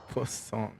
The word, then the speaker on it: Poisson: Wait, how do you pronounce that? Poisson. It's like I'm saying croissant.